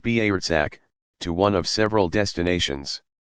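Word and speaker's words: برزخ: On the basis of that accounting, individuals will go across a narrow passage of no return called the Barzakh, pronounced Barzakh, to one of several destinations.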